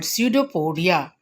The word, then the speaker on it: pseudopodia: At the time of ingestion, there is a false feed called pseudopodia. Pseudopodia, and its singular is pseudopodium. P is silent here.